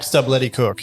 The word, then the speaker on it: Stubblety-Cook: Zac Stubblety-Cook.